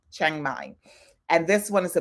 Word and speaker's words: Chiang Mai: how you pronounce it Cafe De Chang as in c-h-a-n-g but it's c-h-a-i-n-g Chiang Mai and this one is